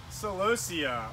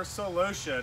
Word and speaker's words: celosia: information about flowering annuals in the southeast ok celosia or celosia depending on how you want to pronounce it is a beautiful flowery annual it